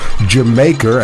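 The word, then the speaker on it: D'yer Mak'er: album with the song dire maker or jamaer as they pronounced it in English thus reggae music Dion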